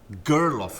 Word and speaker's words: Gerlof: Gerlof is the way you pronounce the name in Scotland. But people go first letter G, and that's all we can handle.